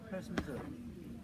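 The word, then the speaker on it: Herstmonceux: The village name therefore became Hurst de Monceux, pronounced now HearstMonceux, BBC HearstMonceux.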